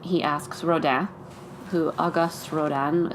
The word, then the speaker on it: Rodin: So he leaves and he asks Rodin, who Auguste Rodin, spelled R-O-D-I-N, but it's pronounced Rodin, steps in.